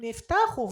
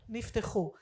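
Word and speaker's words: נפתחו: conversation, the openings of heaven were opened, "niftakhu", not "niftekhu".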